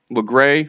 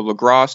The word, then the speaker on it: Lagras: Fast travel over to LeGray or LaGrasse, depending on how you want to say it. I think from story mode, they pronounced it LeGray.